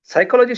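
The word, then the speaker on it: psychology: जैसे साइकोलॉजी शब्द का या फिर निमोनिया शब्द का उच्चारण हम जब करते हैं तो पी साइलेंट है ऐसा कहा जाता है।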